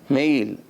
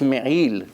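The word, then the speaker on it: מעיל: Really the right way to say it's me'il, im ayin. Ayin, it has to come from the throat. Some people, they don't separate. They say me'il with aleph, it's not correct.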